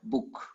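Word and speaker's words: boek: in Dutch book yeah you pronounce it short book a cap and book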